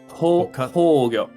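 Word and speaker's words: 崩御: keep forgetting 崩御 Hogyo. 崩御 right, okay. Accent on the whole.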